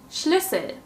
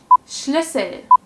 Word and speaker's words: Schlüssel: Nummer 3. Schlüssel. Schlüssel. This is also a short sound, a short Ü sound.